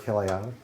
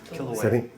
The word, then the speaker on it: Kilauea: And then here's another, some more basalt from, I'm going to mispronounce this, Mount Kiliao. Kilauea.